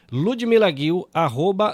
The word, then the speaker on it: Ludmila Ghil: Então é o seguinte, ludmilaguil @ludmilag com gh. Eu tô pronunciando seu nome direito, tá certíssimo. Você tá de para palminhas para você agora aí, ó.